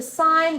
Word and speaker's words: sin: calculators there is a sign button it's spelled sin but we call it sign there's a pause button